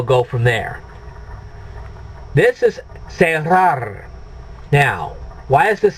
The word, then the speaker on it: cerrar: So what you're doing is you're saying say rar.